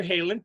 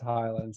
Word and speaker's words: Heyland: but it's actually pronounced Highland Sun Island how I'll remember is like Highlanders there is only one so that's that okay there you go I'll remember that so dr.